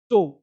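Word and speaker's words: toe: बहुत बढ़िया आगे देखो जब किसी शब्द के अंत में ओ ई हो क्या हो ओ ई तो ओ ई का उच्चारण ओ होता है ओ ई का उच्चारण ओ जैसे देखो टो अब ओ क्या पढ़ते हैं ओ टोई नहीं टोई टो तो मतलब पैर का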